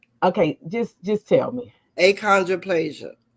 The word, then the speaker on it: achondroplasia: on um and I'm going to try to pronounce it. Don't you say it? And okay, just just tell me. Aondroplasia. Aondroplasia.